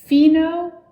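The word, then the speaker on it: phenolphthalein: to pronounce it's called phenothalene there's a lot of silent letters in it phenothalene is on table m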